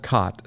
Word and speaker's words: khat: And the drug is called Kot, spelled with a K, K H. They would chew the root of the plant and you could tell that they were chewing cot because it was like